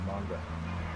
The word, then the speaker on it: manga: I just did manga. That's how it's pronounced.